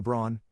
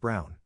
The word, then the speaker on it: Braun: She said why not, and I reminded her of the historical figure, Eva Braun, pronounced Brown, wife of probably one